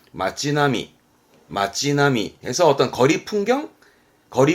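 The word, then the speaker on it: 町並み: 줄비에 있는 그런 모양새를 말할 때 쓰는 단어인데 발음은 마찌나미 마찌나미에서 어떤 거리 풍경 거리 모습을 말할 때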